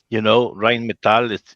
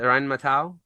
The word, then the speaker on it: Rheinmetall: But across the top, it says System Exa, and then you'll see Rheinmetall. I don't know how to pronounce it.